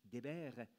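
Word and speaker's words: דֶּבֶר: vraie parole, en hébreu, le verbe se dit « dabar », Dalet Betresh, trois lettres consonnes qui écrivent le nom, mais si on le prononce autrement, si on le prononce Deber, ça donne la peste destructrice.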